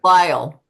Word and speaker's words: Lyell: Lyle.